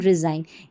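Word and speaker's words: resign: जैसे साइन, डिज़ाइन, असाइन, रिज़ाइन, यहाँ पर उच्चारण आप देख ले हिंदी में दे रखे हैं।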